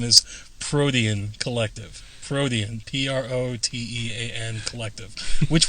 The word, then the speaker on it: Protean: don't get the conspiracy i just want to make sure people are pronouncing it protein oh we've got it